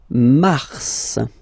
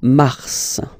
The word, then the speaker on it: mars: Then mars, okay? So in a way, it's an exception because normally final S is not pronounced in French, okay?